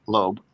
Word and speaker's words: Loeb: Harvard called Avi Leo Loeb I think that's how it's pronounced lobe o l o e b yeah and so what